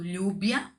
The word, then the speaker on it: lluvia: Eu falo lluvia, então é com V, mas tem o som de B.